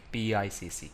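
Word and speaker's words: PICC: change control or the process of pic p icc pronounced as pic this process reviews all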